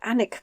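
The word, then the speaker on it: Alnwick: still a Percy at anic Castle it's pronounced a l n w i c k it's one of these one of these only say half the letters what an IT castle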